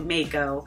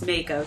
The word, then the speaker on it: mako: a white shark a mako it's not mako it's makeup i think it's from